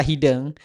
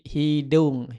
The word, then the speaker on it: hideung: Nah, kemudian kata hideng itu hideng pun sama, E-nya itu harus dikasih u ya. Jadi hideung, hideung.